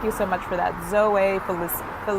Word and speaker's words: Zoe: It's pronounced Zoe, got it, Felicie.